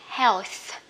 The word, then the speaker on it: health: đất nho từng này các bạn đọc là heo phải không Nhưng mà nhớ là cây hát là ông cuối ha Nhưng mà phải đưa nữa ra th phải đủ đã giữ gì ra hàm răng heo nghĩa là gì